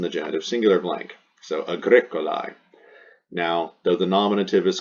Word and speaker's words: Agricolae: This is the genitive singular ending, A-E pronounced I. This is the noun's gender, which is masculine. And this is the English definition, farmer. So this is the nominative singular. It goes in the nominative singular blank. This is the ending for the genitive singular, A-E pronounced I. It goes in the genitive singular blank.